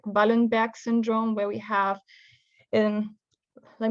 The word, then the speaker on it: Wallenberg: Wallenberg is probably the correct how the good doctor was called in his time.